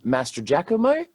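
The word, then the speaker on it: Mastrogiacomo: now I believe it's Master diomo but what that's actually sounds good but it because it's like Italian I think it could actually be Master jakamo yeah it it is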